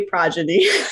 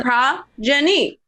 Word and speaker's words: progeny: I knew I was saying it wrong, but I was like, I read it and I'd be like, progeny, and then he said, I was like, oh, the O is extended. Progeny.